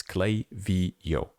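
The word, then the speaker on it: Klaviyo: It's definitely definitely Clavio. Even I remember Clavio themselves were a little bit upset and they had a page where they uh yeah, basically they put how to pronounce it. It's Clay Vio.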